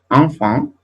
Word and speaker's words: enfant: Enfant, bien, fíjense que aquí se escribe con E y aquí se escribe con A, pero las dos se pronuncian igual, bien.